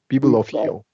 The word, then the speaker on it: bibliophile: She's a bibliophile. So we got a long I here, we got a long E here, and a long O.